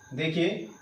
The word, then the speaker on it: though: देखिए THOUGH, इसका pronunciation क्या होता है, दो।